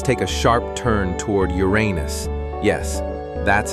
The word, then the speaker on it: Uranus: Now, let's take a sharp turn toward Uranus. Yes, that's how it's pronounced.